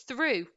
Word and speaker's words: through: pronounce them differently so is this one throw off or is it's rough well it's not it's neither it's through and this one is it